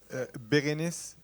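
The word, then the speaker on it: Bérénice Bejo: How do we pronounce the name of the actress? Beguenese, Bejo. Berenice.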